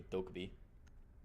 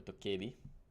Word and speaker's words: Dokkaebi: Does move back over the Dokkaebi. Or Dokkaebi, as it is properly pronounced.